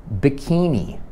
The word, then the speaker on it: bikini: Bikini, nie wiem, po angielsku jest bikini, bikini.